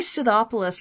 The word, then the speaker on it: Scythopolis: It's probably Scythopolis, like the Scythians.